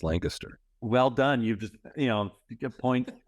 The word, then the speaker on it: Lancaster: Lancaster, I remember the pronunciation. It's not Lancaster, it's Lancaster.